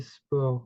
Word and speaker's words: sports: What's easy here, or what's different from English and French as in the pronunciation, is that we have two letters that are completely mute, okay? So the two final letters, we would simply say sport, okay?